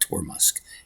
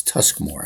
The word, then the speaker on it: Tuskmore: Sorry, I always want to call it Tormusk. It's Tuskmore.